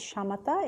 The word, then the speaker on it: Shamatha: It's Shamatha, S-H-A-M-T-H-A, and Shinne is S-H-I-N-A-Y. In Tibetan, the word Shinne, the first syllable shi means peace or to pacify, and